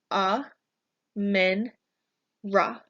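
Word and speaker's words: Amun-Ra: is the Sun God you can easily pronounce his name if you break it down into ah men rah rah you're next God is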